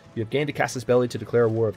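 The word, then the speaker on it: casus belli: you have gained a Cassis belli to declare a war of territorial expansion or I'm sorry Cassis belly that's a common mispronunciation you have gained a cass's belly to declare a war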